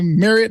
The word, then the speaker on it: Marriott: The CEOs of both Hilton and Marriott, they're like, by the way, it's pronounced Marriott, not Marriott. Like Marriott?